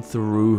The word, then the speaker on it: through: I'm gonna sneak in through her window. Вообще слово «through» очень русскому рту чуждо и больно его произносить порой, но старайтесь. «Through» — межзубный «th», никакого «с» или «ф».